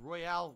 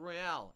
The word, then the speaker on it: Royale: know you're not pronouncing Royale correctly actually it's you can say it both ways you can say it both Royal and Royale and it's fine you